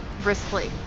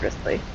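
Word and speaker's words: Wriothesley: So I'm almost done maxing out Risley. Is that how you pronounce his name? That is how you pronounce his name. Risley? Risley, yeah. Risley. It's Welsh. Just give up at this point. Just sneeze and it's probably correct.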